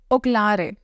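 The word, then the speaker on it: Ocllare: So if this is the case, then Oklare. O-C-L-L-A-R-E. And C is pronounced like K.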